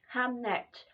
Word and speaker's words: Hamnet: Hamnet, not Hamlet, although there is a strong connection to that.